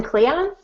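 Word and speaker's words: Kleon: how do you say his last name austin cleon cleon okay ten things nobody told you about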